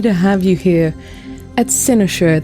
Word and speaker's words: Cynosure: It's lovely to have you here at Senoshure. That's how I say it. How do you say it, Adam? I say it wrong because I'm an evil genius. How do you say it? Uh, Sinoure. I like how you said it better.